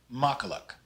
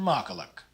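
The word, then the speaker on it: makkelijk: is pronounced bizonder and the lijk ending is pronounced like the english word luck so this is pronounced makalak bizonder in makalak the e i blend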